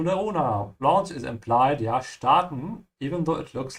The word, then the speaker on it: starten: It could also mean to take off, which is the meaning here, starten. Also notice how I'm pronouncing it. I'm saying st with a sh because the s comes before a t, yeah?